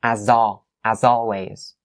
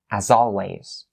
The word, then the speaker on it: as always: You link it, as always, right? But the S here, it has to be the Z sound. It's not the S sound. So as always, right?